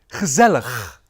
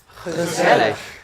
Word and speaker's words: gezellig: This funny guttural sounding word. Could you please repeat after me? Gezellig. Gezellig.